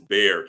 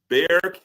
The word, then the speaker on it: Bexar: Everybody tells me it's Bexar County. That X throws me off. Bexar County in Texas.